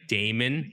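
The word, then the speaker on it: Daemon: For some reason, in my mind, this game is called Demon Hunter, but demon is spelled that weird way, like Damon, like Damon. D-A-E-M-O-N, or whatever it's Yeah, spelled yeah.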